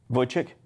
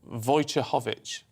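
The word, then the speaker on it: Wojciechowicz: a married name uh it's spelled w o j c i e c h o w i c says oh my goodness how do you say that and void chick no but the number of times i just have to introduce her on stage and things and it never worked well so in the end in my phone i've had to put it in phonetically uh uh voucher hovich is it german or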